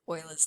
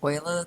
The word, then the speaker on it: Euler: now we're going to look at calculus with euler's number which is uh particularly interesting it has a particularly interesting property which is kind of cool so we'll investigate that and that remembering that it is pronounced euler not euler even though it does look like